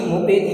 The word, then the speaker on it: मुपैति: अपन यहाँ द्युति मुपेति पढ़ते हैं, मुपेति नहीं, मुपैति। हाँ, डबल वर्ड।